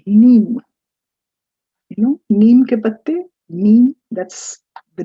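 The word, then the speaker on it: Nîmes: of this little town in south france called neem you know that's the name of the town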